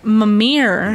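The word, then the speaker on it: Mimir: mouth mamir you there mamir yes that's how you say it good oh my God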